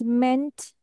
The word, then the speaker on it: meant: This The pronunciation is meant, meant.